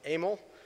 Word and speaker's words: Emil: Either way, what I'm told is his first name was pronounced Emil.